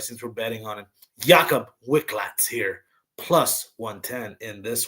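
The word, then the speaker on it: Jakub Wikłacz: Let me pronounce his name right since we're betting on him. Jakob Wicklax here, plus 110 in this one.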